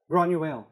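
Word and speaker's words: Granuaile: associate with, and I don't know how to pronounce her name, but Granuel? Granuel.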